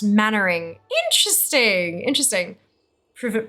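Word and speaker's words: Mainwaring: heard exactly Captain M main wearing from Dad's Army pronounced mannering interesting interesting Pro it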